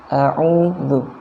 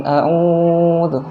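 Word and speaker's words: أعوذ: A'udzu. U-nya dibaca dua harokat, jangan terlalu panjang. Bukan a'udzu, bukan ya. Tapi a'udzu.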